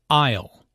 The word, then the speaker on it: aisle: Aisle. Notice the silent S in aisle.